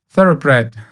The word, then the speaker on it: Thoroughbred: It's, how do you pronounce Thoroughbred? Thoroughbred. Not bread.